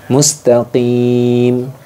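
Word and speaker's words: مستقيم: Yaitu dibaca panjang, 1 alif atau 2 alif atau 3 alif. Ya, mustaqim.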